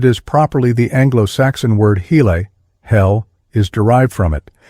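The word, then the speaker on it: hele: all this within itself this word is often spelled as it is pronounced hail but it is properly the Anglo-Saxon word hel hell is derived from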